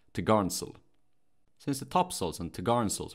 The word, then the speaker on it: topgallant sail: The topmost sail, mounted from the topgallant, is called the topgallant sail, pronounced topgarnsail.